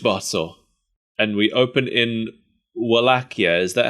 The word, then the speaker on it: Wallachia: and we open in wallachia is that how you say it malacchio wallachia or something like that yeah I think it's pronounced both ways in the show but mostly wilakia well Ikea sounds more